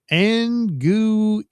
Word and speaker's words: Anguille: It's pronounced Anguille. Anguille. It's Italian.